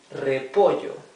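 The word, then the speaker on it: repollo: then we have cabbage repo remember the r in Spanish when it begins in a in a in a word it's R right the rough sound of the r poo cifl is cauliflower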